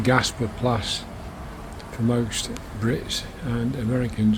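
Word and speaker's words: Gaasperplas: It's in southeast Amsterdam and near a district called Gasperplas, in the Dutch pronunciation Gasperplas for most Brits and Americans, I would guess.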